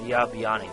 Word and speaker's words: Babani: Bib Bib Babani. There you go. I thought it was BIB, but it's BIA. So, it's Babani. That's how you say it.